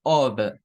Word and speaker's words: of: Pero si yo digo este de acá, tengo que pronunciarlo con una V, o sea, como of.